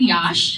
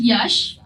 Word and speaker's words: Yash: I told her it is not yash, it is yash and it rhymes with rush.